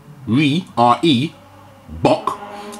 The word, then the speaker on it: Reebok: So Reebok, pronounced R-E-Bok, is a South African antelope.